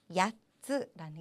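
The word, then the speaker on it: 八つ: 자, 4개가 요츠였잖아요. 발음 좀 비슷하지만 확실하게 구분해 주셔야 됩니다. 야츠라는 게 있었죠. 그래서 야츠 8개가 되겠습니다.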